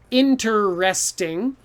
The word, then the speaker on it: interesting: about all those letters interesting has all those ease in there but who cares you don't have to say that e if you don't hear